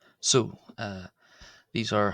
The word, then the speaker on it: ⲋⲟ: Uh and the version I've written here is pronounced so. So so with an s so and that's the feminine version.